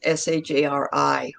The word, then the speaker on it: Shari: If that helps, the pronunciation is Shari, which is different.